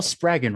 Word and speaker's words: Spraggon: doing that um Adele spagen right yes it is rhymes with dragon that's a wonderful name